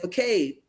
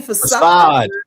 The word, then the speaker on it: facade: So they just taking the pages and nobody noticed that you said facade. What the? You mean facade?